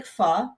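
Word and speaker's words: phở: people love talking about food so so I know so by the way what it looks like f or sorry hold on it looks like fo it's pronounced F that's the short version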